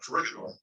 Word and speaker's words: Corregidor: Like, correct me if this is not right, but Corregidor.